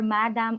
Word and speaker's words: madam: Yes, it's a plural for madam or madam, but the pronunciation is just the same. It's spelled as mesdames, but we pronounce it as madam.